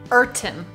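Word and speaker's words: Urton: out it's a microphone company called eron microphones eron yeah now you may have can you spell it u r t o n eron okay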